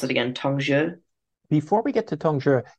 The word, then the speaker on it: Tongzhi: when we get into remind me how to pronounce it again Tong before we get to tonger I think it's